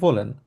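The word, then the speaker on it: wollen: হচ্ছে ভলেন জানি আমরা ডবলিউ কে এর মত উচ্চারণ করি এজন্য আমরা বলব হচ্ছে ভলেন ভলেন মানে হচ্ছে ওয়ান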